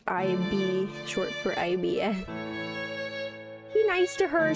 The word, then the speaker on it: Ib: a gray sky IB I think it's pronounced eeve like like Eve and her parents were